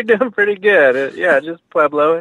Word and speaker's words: Pueblo: you doing today am I doing okay we're pronouncing preo you're doing pretty good yeah just peblo it's a great town so it's always been